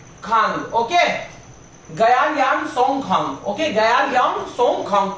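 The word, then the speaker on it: Gyelyong Tshogkhang: Okay, गयालियांग सोंगखांग, टी यहाँ पे silent है, ठीक है।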